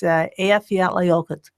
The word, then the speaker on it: Eyjafjallajökull: The volcano that erupted in 2010, it took me about 100 times, but it's Eyjafjallajökull.